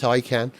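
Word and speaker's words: Taycan: these but does Liam niss own a Porsche takan I know it's pronounced taan and if nominative determinism does work in cars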